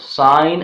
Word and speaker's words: sign: will not be silent take the example of sign and signature sign and signature in sign the letter G is silent why because I is giving a long vowel sound but in signature is not giving a long vowel sound it is giving a short while song therefore G is not silent in the word signature but it is silent in sign well let's take some